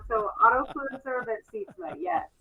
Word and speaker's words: Sietsma: It's Sietsma. Yes. Oh, you nailed it. Autofluencer. You got that one wrong. So Autofluencer, but Sietsma.